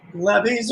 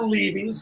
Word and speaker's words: Levy's: And that's levies or levies, depending on where you're from and how you say it. Levies would be said locally.